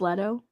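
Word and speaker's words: Leto: love it i love little's look in the joker and uh i believe it's pronounced letto is it little yeah oh perdoni okay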